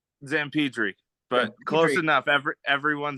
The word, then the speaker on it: Zamperdri: Zamperdri, but close enough.